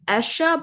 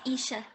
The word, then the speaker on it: Isha: asked that question um i believe it's esha but i might be pronouncing uh pronouncing it wrong sorry go ahead i should speak uh my name is isha yeah nice to meet